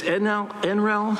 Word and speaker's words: NREL: So this NREL, that's how you pronounce it, they've actually done work here in San Diego County.